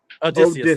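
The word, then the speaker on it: Odysseus: And the Odyssey, it follows Odysus, I think that's how you say his name, the legendary Greek king of Odysius.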